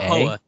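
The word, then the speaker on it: Hoa: Um, and then the other one is, uh, I think you pronounce it Ha. H O. Ha.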